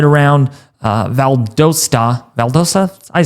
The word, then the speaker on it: Valdosta: Atlanta might feel like 3°, Macan right around 4, Athens 1°ree, Augusta might feel like 12°, Statesboro around 6°, Albany, Valdosa right around uh Valdosta.